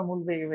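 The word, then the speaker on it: mulberry: সেটা কি দেখেন, যদি আমি বলি মালবেরি বা মুলবেরি, এটা উচ্চারণে মালবেরি হবে, মালবেরি নেজাল ক্যাভিটি, তাহলে সেটা ক্রনিক হাইপারট্রফিক রাইনাইটিস বোঝাবে।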